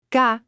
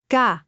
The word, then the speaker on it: K: Ga. Similar to the English K in kite, but slightly sharper. Listen carefully. Say it with me. Ga.